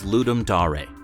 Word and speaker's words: Ludum Dare: Number three on our list is Ludum Dare [pronounced “Loo-dum Dah-reh”].